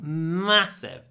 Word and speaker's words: massive: like this word massive try to make the M long massive it's a short a with a long M massive it's massive massive